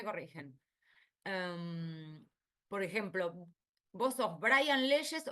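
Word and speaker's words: Briand: Porque en francés es Brian, así que eso me lo enteré hace un tiempo, yo lo pronunciaba mal.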